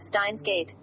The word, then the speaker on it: Steins;Gate: However, its pronunciation is not Unmei Seiki no Tabira, but rather with the furigana, Steins Gate.